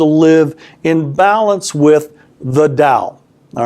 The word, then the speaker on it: Tao: in balance with the dow all right now we in the West we spell it with a tee but it's pronounced d Taoism and Dow in